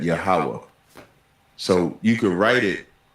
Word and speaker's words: Yahweh: That like the Tetragrammaton, the YHWH, we pronounce that Yahweh.